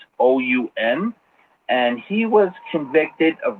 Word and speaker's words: Assoun: I'm not too sure if I'm pronouncing that right. It's Assoun.